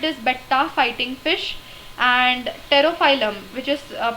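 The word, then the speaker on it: Pterophyllum: in aquarium it is beta fighting fish and pterophylum which is uh pronounced as stereophylum but its spelling is p t e r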